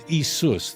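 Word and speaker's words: Ἰησοῦς: Jesus I'm not kidding as isus that would be how you pronounce it in Greek that's why people get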